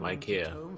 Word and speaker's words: IKEA: the other day it's pronounced Ikea, not IKEA.